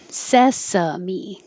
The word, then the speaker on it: sesame: Sesame. That's how we pronounce that for anything, for the food or for the TV show.